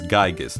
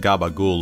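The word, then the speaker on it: Giegue: with a youngling named geigis and nurtured it as its mother yeah it's gigas not gaba ghoul or however the you're supposed to pronounce this after remembering all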